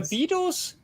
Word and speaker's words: Beatles: What is the pronunciation after by there? By the Beatles? Beatles? Okay. So the Beatles, yes, the Beatles.